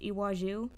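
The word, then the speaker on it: Iwájú: But and then we also have I believe it's pronounced Iwaju.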